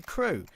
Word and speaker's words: KRÜ: native Spanish team and their name is pronounced how in English you'd say crew so there we go